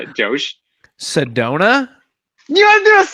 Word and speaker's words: Sedona: So me saying Sedona.